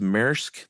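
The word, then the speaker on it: Maersk: And I think uh is it pronounced Merk, the big shipping company?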